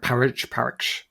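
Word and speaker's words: Páraic: Is it Parik? Parish? It's probably, I'm going to say it's Irish. Parik, like Podrick. Maybe it's Pod.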